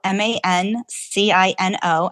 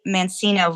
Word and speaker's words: Mancino: So you can send me an email at, Mancino, M-A-N-C-I-N-O. I say Mancino versus Mancino for those who aren't familiar with the Italian pronunciation.